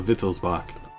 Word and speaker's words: Wittelsbach: Oh, W's are pronounced as V's. Okay, so Wittelsbach. My bad. My bad. I'm just pronouncing it how it's written.